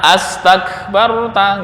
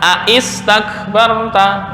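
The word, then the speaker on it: أستكبرت: Maka membacanya adalah astakbarta, nggak boleh dibaca aistakbarta, nggak. Nah, kenapa? Ini hamzahnya hamzah wasal. Ketika di tengah nggak terbaca.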